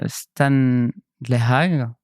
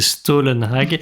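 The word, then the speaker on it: Stålenhag: Non, si tu le prononces bien, c'est Stollenhag. Si tu le prononces mal, c'est Stallenhag. Stollenhag, parce que je ne me souviens jamais, du coup. Le A avec l'espèce de rond au-dessus, ça se prononce O.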